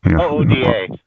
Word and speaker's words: OODA: know so uh the udu loop i think you were saying or how's that pronounced uh you you we've had this discussion before oh oda it's yeah observe orient